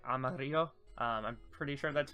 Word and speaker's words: Amarillo: It's Spanish, so it's like Amarillo.